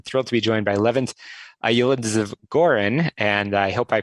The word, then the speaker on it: Levent Yildizgoren: about but i'm thrilled to be joined by eleventh aioli gorin and i hope i pronounced that correctly but uh levin thank you